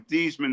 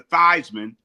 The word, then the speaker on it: Theismann: So, he changed his name from Theman to Thyman to rhyme with Heisman.